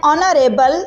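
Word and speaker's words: honourable: Next Yusuf is एन ऑनरेबल citizen. दूसरा जुमला भी इसी तरह है। एच साइलेंट है और सेकंड लेटर को देखते हुए हमने आर्टिकल लगाया है।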